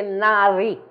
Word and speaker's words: Nadi: che si chiamano Nadi Qui abbiamo però la la la pronuncia che qui è Nari Eh è una è una d questa ma è diversa da quella che abbiamo visto prima quella di prima era una d Perugina questa qui è una d che